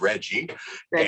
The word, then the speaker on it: RGGI: emission reductions so um rggi is pronounced by the uh climate aficionados is reggie okay reggie's is and